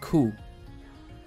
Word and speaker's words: ko: You spell that K-O, ku, or ko, but you pronounce it ku.